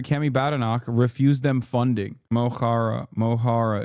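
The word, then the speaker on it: Mo Chara: Mohara is how you pronounce it. Mochara.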